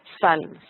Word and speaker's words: psalms: Y de ahí vemos salmo en español y en el inglés conserva inclusive la P, pero se dice psalms, no se pronuncia la P.